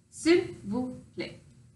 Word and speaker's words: s'il vous plaît: S'il vous plaît. So phonetically it breaks down into sill, like windowsill, vous, like the first part of voodoo, and then play, like you'll play.